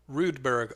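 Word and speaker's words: Roodberg: for the clan too rudeberg r-o-o-d-b-e-r-g no i've spelled it like rude as in how rude that's fine i'll remember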